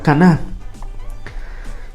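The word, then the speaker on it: קנה: Y esto es bastante importante porque fíjense que el verbo concebir en hebreo se pronuncia caná.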